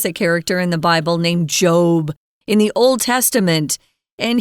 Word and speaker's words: Job: Yeah, this guy from the Bible, his name is pronounced Job. Okay, most times it's pronounced Job, like Steve Jobs, the founder of Apple Computer or whatever.